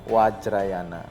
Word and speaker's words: Vajrayana: Mahayana Fajriana Fajr fajrana kalau di budhis itu biasanya V itu dibacanya W ya Oh jadi di bacanya terawada terawada Mahayana Mahayana wajrayana wajrayana Seperti apa tiga aliran